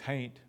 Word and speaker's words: hain't: does anybody know what hain't means it's it's it can mean I ain't in this case it's just ain't with an H on the front of it which is how it